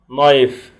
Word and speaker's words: knife: أدوات المطبخ: fork شوكة, spoon معلقة, knife سكينة, وطبعا عندنا الكي سايلنت, glass كوب, بروم مقشة,